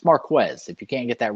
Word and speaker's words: Marquez: for him he's been very adamant about people pronouncing his name correctly it's marquez if you can't get that right just call